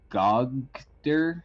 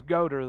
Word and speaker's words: Goater: of my turn um gog der is that how you pronounce it uh my name's goater there fella goater well you just hear in your mind good shot boy you know if you want you can pronounce it goiter oh no it's like that physical condition that george lucas says